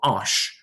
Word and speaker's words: Asch: ernestine and she was from a town called ash ash is spelled asch now in german s corresponds to